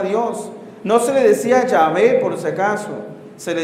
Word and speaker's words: Yahvé: Entonces, ¿cuál es el problema entre Jehová y Yahvé, Padre? ¿Son dos dioses? No. Es el mismo tetragrama, mal interpretada la pronunciación de las vocales.